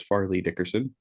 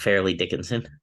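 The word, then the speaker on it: Fairleigh Dickinson: and I's mispronunciations together it's Farley Dickerson not fairly Dickinson uh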